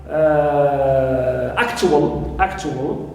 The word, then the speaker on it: actual: Also we have, this is arrival now, also even in adjectives, like actual, clear, we always here stress first syllable a, but not right al, which is neutral.